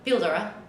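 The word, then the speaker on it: Píldora: I say cold war but how do you pronounce it Oh feel Dora pillow yes actually it's a Spanish word oh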